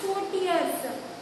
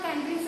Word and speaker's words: courtiers: Courtiers, you should pronounce it as courtiers. Not countries and all, courtiers.